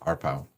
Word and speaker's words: RPOW: So he proposes RPow, RPow, pronounced RPow.